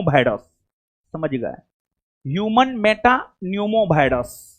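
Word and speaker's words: pneumo: Human Meta न्यूमो virus. हां हां हां हां ठीक हो नहीं जी यहां पर जो है ना नहीं सुनिए पी साइलेंट है human Meta न्यूमो virus P silent है बाबू सी होगा एचएमपी भी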